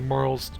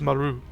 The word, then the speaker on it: Marle: In Japanese, it's pronounced Maru. Maru. Maru. And they said basically translating that into like an Anglophone is, it sounds like Marl. Like Marlene. Without the "een" part.